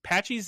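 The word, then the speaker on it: Patxi's: Patchies is spelled strangely.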